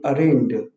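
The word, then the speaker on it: arraigned: ठीक है, और इसकी प्रोनाउंसिएशन होती है, इसमें जी साइलेंट है, अरेंड।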